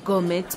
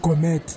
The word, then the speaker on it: gourmet: May I please have this gourmet pizza? Eh my sister gape u joka re ko gona bua kome. Gane di ntshang ka we. Ma'am, it's not gourmet. It's gourmet. Does it taste different when I pronounce it right?